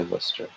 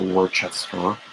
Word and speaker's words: Worcester: saying it correctly because people don't know how to say worcester it's not worchester which is how i used to say it russell doesn't completely understand